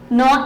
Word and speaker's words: gnaw: Now here, the word meaning, know it, here is GNAW, but why G is silent, this is know it, means bite or chew.